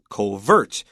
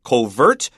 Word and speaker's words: covert: to the pronunciation of covert. It's stress on the second syllable. It's actually a French word that means cover. It even looks like the word to cover. So covert and cover are related, and it just means to hide.